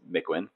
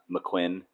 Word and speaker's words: Mikwen: PSA, you do not pronounce my name like a McDonald's sandwich. It's McWin. No emphasis on either syllable. It's not McQuinn or whatever I've been hearing lately. Just McWin.